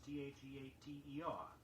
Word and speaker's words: theater: A common word that one often mispronounced is theater, T-H-E-A-T-R-E, or sometimes T-H-E-A-T-E-R. Stress the first syllable only, theater.